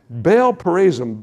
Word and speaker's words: Baal Perazim: Baal Perazim.